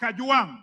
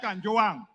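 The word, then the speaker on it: Kajwang: Speaker, first of all, pronounce my name properly. I'm not Gachechua. I am Kajuang, not Kanjoang.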